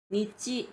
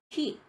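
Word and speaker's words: 日: 음독은 니찌, 지찌라고 해서 일단 대표적으로는 니찌요비라고 할 때 쓰는 그 한자. 그래서 일요일이라는 단어를 만들 때 쓰고요. 그 다음에 히, 하라고 읽을 경우에는 히 단독으로 써서 날이란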